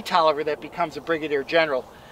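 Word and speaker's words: Taliaferro: by Alexander Galt Oliver looks like Tom Farrow Tolliver we know they pronounce this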